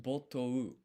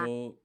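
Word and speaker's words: 没頭: もあれば、 Botou. Okay, so it's O and U, it's kind of like one syllable.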